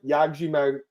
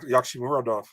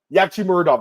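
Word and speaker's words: Yagshimuradov: Dovletson Yagjimadrov. Fuck, I tried. It's tough. How do you say his name? You do it. I would say Dovletson Yakshimuradov. Yakshimuradov. That's how you say it.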